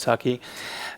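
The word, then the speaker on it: Tukey: So this word was introduced in 1947 by John, I think it's pronounced Taki, and it actually means binary information digit.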